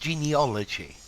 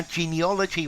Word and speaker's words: genealogy: hi there students genealogy I've also very often heard it pronounced genealogy yeah genealogy or genealogy um I think both are valid let's see genealogy is